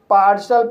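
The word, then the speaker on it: partial: रहता है for example पा इस वर्ड में पी को प पढ़ेंगे ए को आ पढ़ेंगे आर को र पढ़ेंगे और टी को श पढ़ेंगे आई ए साइलेंट रहेगा एल को ला पढ़ेंगे इस तरह सेे पार्शल पढ़ेंगे और पार्सल मींस होता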